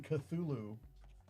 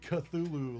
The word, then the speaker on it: Cthulhu: how exactly, but yeah, like Cthulhu like that's just the most like easy way to say it, but they're like, "Yeah, it's technically wrong because it's that's like a three syllable."